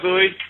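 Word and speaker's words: Booey: I'll go by Bowie. Everyone calls me Bowie anyway, so Bowie. Spell it, B-O-O-H-E-Y?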